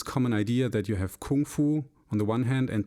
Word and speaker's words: kung fu: I was interested in kung fu technically would be pronounced Gung Fu but that's a side